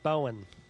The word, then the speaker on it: Bowen: Pronounce it properly. Bowen.